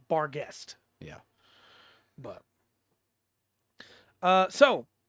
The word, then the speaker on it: Barghest: to be pronounced differently the official pronunciation for this monster in the uh book is bar guest yeah but uh so